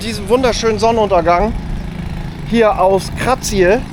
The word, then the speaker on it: Kratie: Und mit diesem wunderschönen Sonnenuntergang hier aus Krazie oder auch Krazi, ausgesprochen, aber Kratze geschrieben, verabschiede ich mich und hoffe, euch hat das Video auch gefallen.